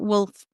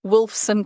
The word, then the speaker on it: Wolfson: person who was someone when you were at Wolf I can't say I'm saying it wrong Wolfson College yeah so well my my undergraduate I